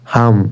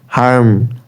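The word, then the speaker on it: harm: আর এটা যদি ব্রিটিশদের উচ্চারণ অনুযায়ী বলেন, হাম, হাম হবে, হাম, হাম সারি না আমরা, হাম, হাম। আর আমেরিকানদের মতো হইলে হার্ম, হার্ম, হার্ম মানে ক্ষতি, I will হার্ম, I will হার্ম।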